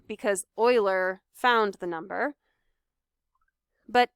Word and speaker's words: Euler: and say his name it looks like euler but his name is euler and he looked at